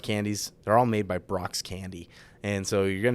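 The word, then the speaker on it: Brach: Well, dude, I mean, as everybody knows, my name is spelled horrible, right? B-R-A-C-H. It's the worst way out there to spell Brock, but it's actually named after the candy company, Brock's Candy.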